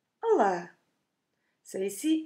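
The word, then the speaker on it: olá: words to say hello hello is Allah to open vowels it's not hard at all just repeat with me Allah Allah so you see it's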